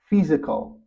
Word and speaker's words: physical: This word is pronounced as physical, physical. Even though it has the letter S, the transcription is the sound Z.